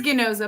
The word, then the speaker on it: Ganoza: So it's not soft G. It is Ginoza, but that's okay.